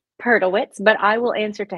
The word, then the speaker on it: Perdelwitz: it's not just you the the correct pronunciation of your name last name perlewitz but I will answer